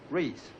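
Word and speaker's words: Reis: what does it matter re e i s Reese in German that is pronounced right what the devil do you think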